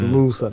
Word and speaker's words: Moosa: I'm like, no, you're gonna pronounce it. It's Musa.